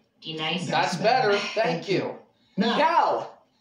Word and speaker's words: D-Nice: Do you mean Denise? Son of a splash! You say your name right. Right now. Denise? Say it right. Denise. Say it correctly. Right. D-Nice.